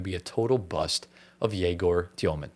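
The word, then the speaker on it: Yegor Demin: a total bust of Yegor Dioman. That's how you pronounce his name. It's not Igor Demin.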